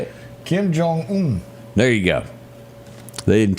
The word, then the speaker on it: Kim Jong: scared of a guy named Trump yeah yeah Kim Wong how do you say it Kim Jong there you go they didn't teach that in